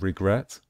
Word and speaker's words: regret: It's the same with regret. With regret, we stress the last syllable, the final syllable.